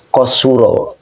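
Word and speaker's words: قصر: adalah faula ya jadi di kitabnya adalah qasuro nah ini bacanya qosuro jadi ngambil polanya dari faula Ini qosuro oke Ya jadi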